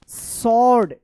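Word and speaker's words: sword: and found a small सॉर्ड एस डब्ल्यू ओ आर डी सॉर्ड यहां पे W silent है inside तो देखिए यहां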